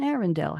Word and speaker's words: Arendelle: the royal sisters of Arendelle. It rhymes. Menzel, Bell, and Arendelle.